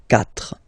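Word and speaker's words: quatre: Remember in French the rule is that if you start with, well, if you get this combination Q, U, A, well, you will pronounce it K, K. Same thing for the other vowels, okay? So because that's the rule, after Q, normally we put U and then another vowel, but then this U, well, basically it's not pronounced, okay?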